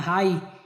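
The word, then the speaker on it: high: अब जी एच की बात आती है, जी एच शब्द के अंत में जी एच या जी एच टी आया हो तो जी एच प्रायः साइलेंट होता है।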